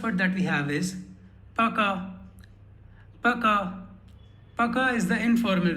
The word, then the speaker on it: пока: So you don't say Poka, but you say Пока.